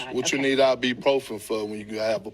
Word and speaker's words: ibuprofen: So, it's properly pronounced ibuprofen, but nobody says it that way. I The ibuprofen is more fun.